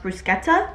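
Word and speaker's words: bruschetta: but they have Bretta which apparently is pronounced brusketta as I've learned it's like a wine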